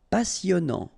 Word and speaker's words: passionnant: Okay, here you pronounce the double S because you've got a vowel, so it's really a strong one. Passionnant. Final T not pronounced. And then here you get this en sound. Passionnant.